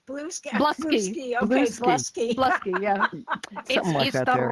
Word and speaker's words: Bluesky: I think that's Blue Sky, actually. Yes. Stop blingy. All righty. That's our industry news. What did I say? Bluesy. Bluesky.